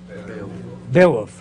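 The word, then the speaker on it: Beowulf: saw the movie B bwolf that's how you pronounce it bwolf today digital movie blew my mind how many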